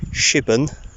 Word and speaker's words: Shipbourne: shitball which I've now found out is actually pronounced shipping and at the end of the video it's